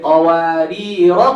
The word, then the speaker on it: قوارير: When you see this symbol on the alif, this means if you stop, you pronounce the alif. If you connect, you drop the alif.